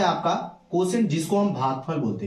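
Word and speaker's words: quotient: अब यहाँ पे कोसेंट का स्पेलिंग थोड़ा अलग है, इसको आप याद करने के लिए पढ़ सकते हैं कोटी एंड। क्या पढ़ते हैं? कोटी। जैसे पेशेंट को आप पटी एंड कहते हैं, वैसे कोसेंट को आप बोलिए कोटी एंड, याद रखने के लिए।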